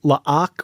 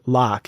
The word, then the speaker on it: La'ak: I'm still not sure how to pronounce his name. La'ak or Locke. It's L''AK.